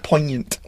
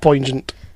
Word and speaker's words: poignant: It's poignant. That's why the Americans... Why isn't it pronounced poignant?